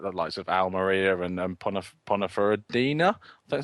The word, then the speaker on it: Ponferradina: He spent time on loan at like the likes of Almeria and Ponferradina. That's how you pronounce it.